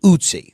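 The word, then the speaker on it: Ötzi: So that ice mummy's name is pronounced otsie.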